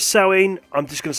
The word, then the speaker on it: Samhain: am totally aware that Samhain is not the proper pronunciation it's actually sewing however I've been reading